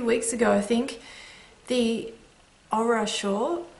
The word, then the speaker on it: Ohra: I cast on, it was like 2 weeks ago, I think, the Ohra Shawl. It's actually pronounced with a heavy H, but I can't say it.